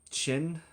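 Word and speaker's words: Qin: Mando he's he's got I think his name was chin I think is how they pronounced it it was q i n in the subtitles but I think they pronounced it chin um but he's got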